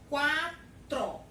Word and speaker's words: quatro: Ela não existe dígrafo, como a palavra quatro. 4 não é um dígrafo. Por quê? Porque a letra U, ela foi pronunciada.